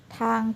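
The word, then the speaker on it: 汤: ตัว ที นะ คะ ตัว ที่ ออก เสียง เป็น เธอ เธอ เป็น เพราะ ทหาร นะ คะ แล้ว ก็ สละ ang นะ คะ ภาษา จีน ออก เสียง เป็น อัง อัง ถ้า เธอ อัง ทาง เธอ อ่าง ทาง ทาง นะ คะ เวลา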